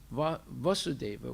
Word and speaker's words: Vasudeva: godhead so when it's vasudeva with a short a that's referring to krsna's father when it's vasudeva with a long a that's referring to krishna the son of vasudeva okay and and sometimes